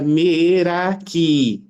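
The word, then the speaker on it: meraki: procurar e descobri que merak na realidade é uma palavra de origem grega que se pronuncia merak que significa doar de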